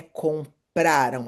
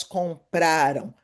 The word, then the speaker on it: compraram: Atenção, a pronúncia não é compraram, é compraram. A sílaba tônica é a segunda do final.